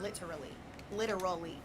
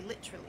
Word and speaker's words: literally: Literally. It has 4 syllables. Literally. But in the UK over there, y'all say literally.